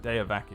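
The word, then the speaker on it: Deavaki: based on your upbringing you see the word day of a key which is spelt this way de a VA ki for the purposes of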